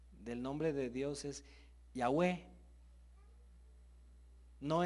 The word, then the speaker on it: Yahweh: Dios es Yahweh no es Jehová es Yahweh no es la palabra Jehová es esas letras que usted ve allí y le han puesto sílabas de la palabra Adonai pero no es esa la pronunciación original es Yahweh repita conmigo con temor